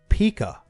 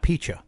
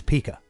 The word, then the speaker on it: Pica: Out of nowhere, Frank Pica. It's not Picha. Mm-hmm. It's Pica.